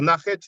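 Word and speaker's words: Nakht: It's from the tomb of Nach, or Nachet, depends how you want to pronounce it.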